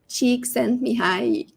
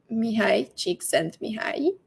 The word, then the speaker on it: Csikszentmihalyi: I will pronounce it for you. Csikszentmihalyi.